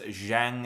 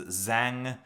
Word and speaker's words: Zhang: but in this video I do pronounce Jang as Zang I'm sorry enjoy the